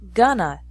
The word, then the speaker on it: going to: Remember that in spoken English, going to is often pronounced gonna.